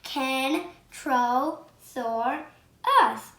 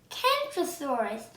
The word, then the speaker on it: Kentrosaurus: down to the kentrosaurus i'm going to tell you how to pronounce it can troll soar us kentrosaurus and this dancer was